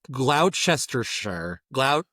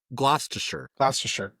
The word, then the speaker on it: Gloucestershire: Well, see, I feel like they're skipping like 5 syllables in that. Well, it's like Worcestershire sauce. Well, again, it looks like Worcestershire. Like it. Yeah. They skip so many letters.